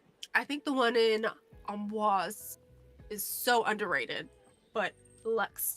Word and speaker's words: Amboise: Yeah. Like AHM. And then... it says with a nasal AN sound. And then followed by BWAZ. Is sometimes anglicized as amboise, but the French pronunciation is preferred.